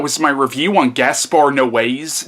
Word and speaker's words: Noé: my review on gaspar no ways now I know it ends with an E but I've heard it pronounced no way but yeah that was